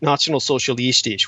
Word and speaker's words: Nationalsozialistisch: The Nationalsozialistisch, which is the correct pronunciation for the National Socialists, they were essentially very much an occult movement.